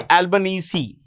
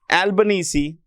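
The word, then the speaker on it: Albanese: the Prime Minister of Australia Anthony albanes Anthony albanesi that's the way it's pronounced his name is pronounced Anthony albanesi okay so I guess that's about it Fair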